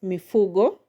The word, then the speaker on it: mifugo: Mifugo has three syllables and the emphasis is going to be on the second syllable from the end. Now that I said it has three syllables. Me, fu, go. So from the end we have the first one go and the second one from the end is full. So the stress is going to be on fu.